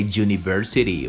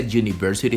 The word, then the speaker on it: university: Exception number 1 says that the letter U is pronounced with a consonant sound. You say you. For example, here it is a university. Repeat after me. She's a university student.